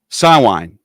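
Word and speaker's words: Samhain: it called again um s wine it's spelled s a m h i a an and it's that's their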